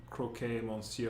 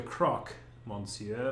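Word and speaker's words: Croque Monsieur: you are the croc croquet monsieur are you not that's the croc monsieur to you monday people always get the pronunciation wrong it's not i'm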